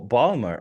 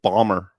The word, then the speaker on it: Baltimore: Oh, Balmer. Okay. They don't even say the L. It's just Bomber.